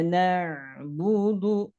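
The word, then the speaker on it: نَعْبُدُ: Iyyaka na'budu. Iya. Ini ada hukum at-tabi'i panjangnya 2 harokat. Kana. Kemudian ada ain sukun. Ain sukun itu sifatnya tawasud. Tawasupo. Tawasupo. Jangan sampai na. Tapi dialirkan sedikit.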